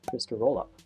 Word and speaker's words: Trysterollup: I'm working on called TR rollup which is kind of pronounced like twister rollup is a convenience wrapper